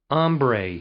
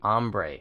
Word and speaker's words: ombre: How was that pronounced? Ombre. Ombre.